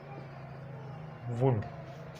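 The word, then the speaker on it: would: उसके बाद डी, एफ, के या एम से पहले एल साइलेंट होता है।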